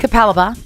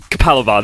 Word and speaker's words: Capalaba: say that suburb it's a suburb of Brisbane capalaba capalaba that is the most Queens land name of